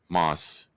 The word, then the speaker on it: Mosport: So, it is pronounced Mosport. How is it? M O, but it's ma. Moss. It's like moss.